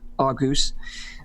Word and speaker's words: Argos: If you're really fancy, it's pronounced Argus.